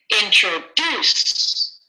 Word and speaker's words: introduce: perfect introduce introduce introduce which syllable is getting the most stress first second or third introduce introduce excellent the vast majority almost all of you are saying pattern C and that is correct it's the last syllable